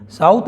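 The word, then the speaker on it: tsetse: उत्पन्न कर देती है साउथ अफ्रीका के जंगलों में मक्खी पाई जाती है उसको हम मक्की का नाम है सी फ्लाई थी साइलेंट होता है सी फ्लाई यह वहां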